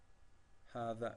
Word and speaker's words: هذا: هذا is pronounced as هذا with alif, because you could say as a هذا. So if I go like this one, only this one as a هذا, but it's pronounced as هذا, but it is written without the first alif.